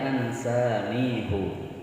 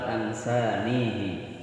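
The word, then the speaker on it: أَنسَانِيهُ: Ya ini khusus pada Al-Kahfi yang kita baca ini membacanya ansanihu, bukan ansanihi.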